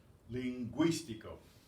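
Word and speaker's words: lingüístico: Those 2 dots tell you pronounced. Linguístico.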